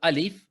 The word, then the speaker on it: Alif: Ahora no se dice acá A, I, U, sino que se pronuncia Alif, ¿sí? Acá también la L no es ahora la, li, lu, sino que es Lam, su nombre completo en árabe. Y cada letra, sea Alif,